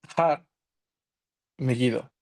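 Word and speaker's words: הר מגידו: abajo encontramos el nombre en hebreo que se pronuncia eh har megido es curioso porque el problema se encuentra aquí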